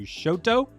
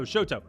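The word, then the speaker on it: Chouteau: here and we're going to go over to Shoto so that's considered that's spelled Shoto and they have this really great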